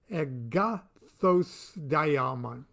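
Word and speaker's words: Agathos Daimon: Zoroaster writes of the Agathos Diamond. I'll say that again. I'll spell it for you. A-G-A-T-H-O-S-D-A-I-M-O-N. The Agathos Daemon.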